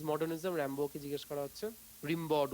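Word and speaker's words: Rimbaud: বিখ্যাত ভাবে র্যাম্বো বলছে, হোয়াট ইজ মডার্নিজম? র্যাম্বোকে জিজ্ঞেস করা হচ্ছে, রিম্বড উচ্চারণটা, ফ্রেঞ্চ পেইন্টার, তিনি বলছেন হোয়াট ইজ মডার্নিজম?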